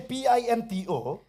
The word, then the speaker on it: Pinto: Ka spelling nga PINTO. The spelling is Pinto. Hani par ba ki da ong pat pintu pat ki ong ngam di UDO. But when they will pronounce my name, they will mispronounce it.